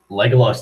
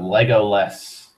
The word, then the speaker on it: Legolas: Wow, Legoless. That's a horrible mispronunciation. It's supposed to be an A instead of an E at the end. Legolas, not Legoless.